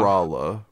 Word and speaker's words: Drahla: Drala. That's what we're going with for that one. I'm Yeah. gonna pronounce it differently every time.